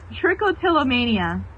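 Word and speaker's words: trichotillomania: banjo banjo no I found out how to pronounce it tricotilomania oh okay that way off from what I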